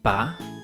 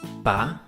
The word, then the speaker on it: Baryonyx: Ba-ry-on-ix. How do you say that again? Ba-ry-on-ix.